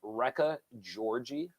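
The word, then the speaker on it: Réka György: So the second place finisher, and I'm probably going to say her name wrong, Rekha Georgie, I believe is how you pronounce Then it.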